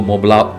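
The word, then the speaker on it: Montblanc: के लिए बता दूं, मॉन्ट ब्लैंक कंपनी का नाम है, और इसको मोबला, एक प्रोनाउंसिएशन इसका मोबला भी किया जाता है। इस कई जगह आपको इसका प्रोनाउंसिएशन मोबला सुनने को मिलेगा, वैसे मॉन्ट ब्लैंक कंपनी है।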